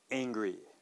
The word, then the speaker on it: angry: okay so of course we do not have any consonant sound at the beginning we start with the angry sound okay so ing okay so of course you see an a there and actually this is going to be almost a natural a sound so combined with the a-n-g Aang okay so please listen one